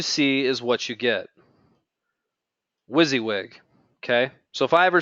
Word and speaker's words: WYSIWYG: train you guys a little bit on the Wizzywig editor, uh, within the Usion software. How many of you who are here live with me know what I'm talking about when I say Wizzywig?